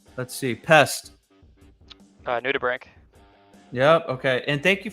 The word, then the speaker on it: nudibranch: Nudibranch. Yep. Okay. And thank you for pronouncing that. I wasn't quite sure the correct pronunciation. I always say branch. Yeah. Nudibranch.